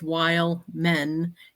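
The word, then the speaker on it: Wehlman: same thing he puts while men is how you say it but it's we h l m an while men yeah wild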